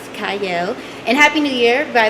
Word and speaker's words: Qiayel: It starts with a Q, but it is pronounced Qiayel.